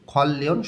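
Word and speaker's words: 관련: রোগের উপসর্গ খলয়ন সম্পর্কিত নিয়ন ভাসিমের পরে রিউল আছে নিয়ম অনুযায়ী দুইটাই ল উচ্চারণ করতে হবে খলিলয়ন সম্পর্কিত অহ শব্দের অর্থ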